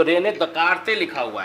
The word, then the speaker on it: Descartes: तो हम लोग जैसा देखें कभी तो रेने दकार्ते लिखा हुआ है, रेने दकार्ते, पर अगर प्रोनाउंसिएट करते हैं तो रेने डिकार्ड्स ही पढ़ने में बनता है, जो स्पेलिंग है उसके हिसाब से।